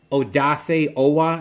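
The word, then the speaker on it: Odafe Oweh: uh with kc uh oh dafe owa i think is how you pronounce that with penn state outside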